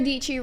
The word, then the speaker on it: Dietschy: My name is Sarah DIETSCHY, rhymes with Peachy.